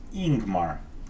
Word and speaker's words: Yingmar: Yingmar is pronounced Ingmar, leading with a vowel sound.